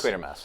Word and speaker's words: Quatermass: Quatermass, yeah. I've been mispronouncing it the whole time.